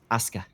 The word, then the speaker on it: Asuka: Dude, that's Aska. Whatever. There's a U in it, Zath. Why is the U randomly silent?